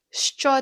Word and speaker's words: що: Let's nail the pronunciation because it can be a little tricky for English speakers. The Ukrainian letter sh makes two sounds, sh and ch. Listen again. Що?